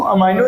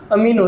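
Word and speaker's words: amino: अब कुछ लोग इसको अमाइनो एसिड बोलते हैं, कुछ लोग अमीनो एसिड बोलते हैं, तो ठीक है, वो अपना जो प्रोनाउंसिएशन है वो समझना।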